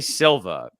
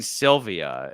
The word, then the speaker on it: Silva: Skyfall you you you can never say Silva you're constantly saying Sylvia and then at some